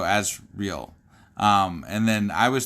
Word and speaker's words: Asriel: one reading it but it's spelled a-s-r-i-e-l so as real um and then i